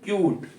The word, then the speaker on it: cute: अब जैसे यहाँ पे CUTE, क्यूट, क्योंकि यहाँ पे यू का उच्चारण करना है आपको, तो ध्यान रखना है यहाँ पे ई जो है साइलेंट का काम कर रहा है, और यहाँ पे यू जो इसका ओरिजिनल प्रोनाउंसिएशन होता है वही आपको यूज में लेना है, क्यूट, काइट। जैसे एक स्पेलिंग है नाइस,